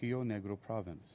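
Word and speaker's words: Río Negro: Carlos de Bariloche in Rio Negro Province. Um All right, did I say did I is that uh oh, Argentina would be Rio. I was looking pronouncing it in the Brazilian Portuguese way.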